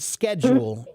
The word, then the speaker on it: schedule: The traditional way that the British say the word schedule is schedule, but many younger people have been switching to schedule now and not schedule. That's my understanding. So, I thought all British say it that way. I'm pretty sure that there are a lot of younger people who are now saying it with the K sound, which is, by the way, the correct way.